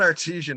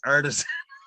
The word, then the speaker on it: artisan: time he goes um it's not artesian it's artisan cheese comes from the